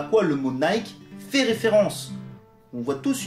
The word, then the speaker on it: Nike: exemple le fait que le créateur de la marque et préciser qu'on prononce bien nay qui concernant ce sujet je